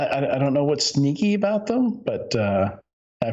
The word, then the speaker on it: Snyk: pron okay it's pronounced sneak SNY snyk is pronounced yeah sneak the natural thing is to say Snick you know like the sound that claws make when they come out